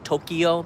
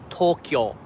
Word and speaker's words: Tokyo: nagoya kyoto osaka tokyo tokyo is actually two syllables not three we say in english tokyo but it's actually tokyo it's tokyo okay so you start to